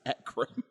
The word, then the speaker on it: Ekram: Do you even know it's pronounced Ekram? Well, how else would you pronounce that? Ekrim.